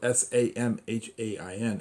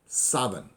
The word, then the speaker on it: Samhain: is not created but the sound of saban phonetically spelled s-a-b-e-n although actually spelled s-a-m-h-a-i-n as in salmon english people people look at it and say sam han samhain samhain s-a-m-h-a-i-n but it's actually saban in gaelic the city of savan